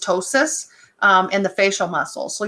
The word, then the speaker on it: ptosis: term called ptosis so the P is silent so it's just ptosis in the facial muscles